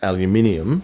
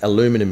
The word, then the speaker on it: aluminium: Well, no, they mean the same thing, but the English and the Australian official pronunciation is aluminium, right, and aluminum is the American one, right?